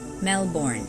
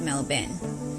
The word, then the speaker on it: Melbourne: The nickname Melbs or Melby is popular among locals, but tourists often mispronounce it as Melbourne instead of Melbourne.